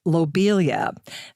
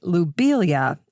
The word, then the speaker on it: lobelia: I used to say lobelia, but now, knowing the French pronunciation of his name, I'm going to say lobelia instead. Subtle little change, lo versus lou, but lou would be the more correct pronunciation.